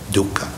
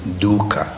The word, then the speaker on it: dukkha: truth first start off he said there is dukkha okay sanskrit they use the term dukkha d-u-h-k-h-a been in poly you can spell it d-u-k-k-h-a so in dukkha in pali is